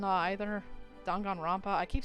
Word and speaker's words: Danganronpa: kind of the reason I didn't really like dangan Robin either Danganronpa I keep saying it wrong I don't like